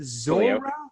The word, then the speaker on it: Zuora: And is it Zuora? Close. Twilio and Zuora. Like I said, my mom says we're from Arkansas. We don't know how to pronounce names.